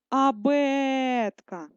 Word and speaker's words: абетка: нам треба поставити наголос давайте одразу це зробимо абетка наголос ставимо над літерою е наголошений звук е працюємо далі погляньте на